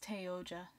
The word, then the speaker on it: Oja: See, the character that this person, Oja, I think is how it's pronounced. Let me actually check that. Yeah, it's Oja.